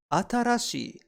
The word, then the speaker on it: 新しい: We pronounce new as atarashi, and we can remember it like this. And there she was, wearing a brand new dress, atarashi for new.